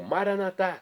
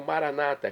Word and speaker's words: maranatá: E agora eu clamo maranatá, como dizemos nós católicos, ou maranata, como dizem nossos irmãos separados, os evangélicos ou protestantes.